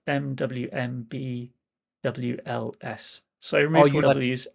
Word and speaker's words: Mwmbwls: Yeah, I live in Mumbles in South Wales, but in Welsh it's spelled MWMBWLS.